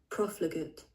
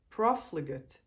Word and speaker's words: profligate: Let me actually hear how to say this. Profligate. Profligate. Profligate. That's not how I would have pronounced it.